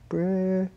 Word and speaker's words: Brigida: Brigida. Brigida. Yeah. Would you be my friend? Only if you can learn how to say my name properly. Brigida.